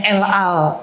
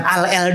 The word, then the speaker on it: El Al: Sebuah maskapai penerbangan, itu bacanya opo? Ayo. Namanya El Al Airline, ya. Bukan Al El Dul, anaknya Ahmad Dhani, bukan, ya.